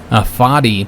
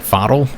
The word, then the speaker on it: Fadl: I think I was calling him Fadi, but that is not an I, that's an L. So it'd be like Fadl or something like that.